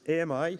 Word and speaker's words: AMI: So we call this AMI. We actually pronounce it ami, which means friend in French.